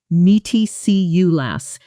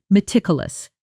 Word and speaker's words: meticulous: Here the challenge isn't the sound, it's the stress and the syllable count. Because English learners often either add an extra syllable or misplace the stress, saying something like "meaty see you lass" when it should be "me tick you lass." Stress firmly on that second syllable.